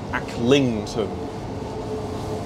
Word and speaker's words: Acklington: Why does the announcer pronounce it as Acklington? Like with emphasis on the ling. Acklington. Oh well, I won't judge. Acklington.